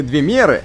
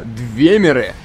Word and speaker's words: двемеры: разговаривали еще предыдущих частях оказались не двемеры а именно двемеры это так что ты не путала ударение надо ставить правильно это основополагающие нормальных отношений